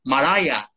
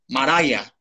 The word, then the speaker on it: Mariah: Porque, claro, que yo decía, todo el mundo decía María Carey, ¿no? Y es Mariah, Mariah.